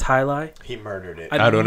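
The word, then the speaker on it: jai alai: It's spelt like Jaialai. That's Hailai.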